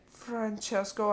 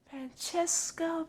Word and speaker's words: Francesco: his name hey and don't say it like that francesco lightning said pounding it's three of syllables not ted and what